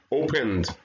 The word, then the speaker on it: opened: Opened, like D.